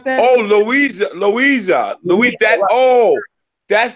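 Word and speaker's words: Loíza: is misspelled dispels L o Iza how you pronounce that Oh Louisa Louisa we dead oh that's the part I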